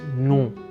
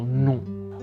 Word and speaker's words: non: It's non. So there's a slightly nasal N at the end, so non.